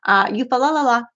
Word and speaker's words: Eufaula: I always say it wrong. Somebody's going to correct me. Eufaula. That's the correct way to say it. Eufaula in Oklahoma in, what is it, May 17th or something?